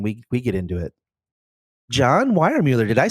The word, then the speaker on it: Weiermuller: John Weiermuller, did I say that right? You did. Unlike Jason Horn, you know how to pronounce it.